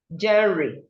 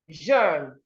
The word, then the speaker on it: genre: I remember when we were in secondary school, this word was taught to me as genre. Genre. I said 3 genres of literature. I still remember that. But this word is pronounced jeune.